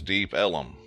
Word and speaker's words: Deep Ellum: but far enough from downtown Dallas to be called Deep Ellum, which in turn, because of Texas pronunciation, it became known as Deep Ellum.